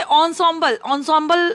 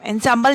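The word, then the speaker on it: ensemble: इसे ऑन्सॉम्बल इसे प्रोनाउंस करेंगे, एंसेम्बल नहीं करेंगे, ऑन्सॉम्बल.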